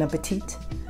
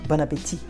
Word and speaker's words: Bon appétit: Bon appetit. Don't do that. If you want to sound like a French person, don't do that. Bon appétit. Just consider the last T as a silent one.